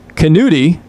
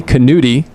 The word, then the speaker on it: Canuti: I know his son just struck out that last half inning, but he gave us a correct pronunciation of Skylar Canuti. I was pronouncing it wrong, Canuti.